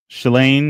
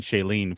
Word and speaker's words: Shalane: pronounce it because I've been saying Shailene for forever, and then I looked at it the other day and was like, "That's not what that name is."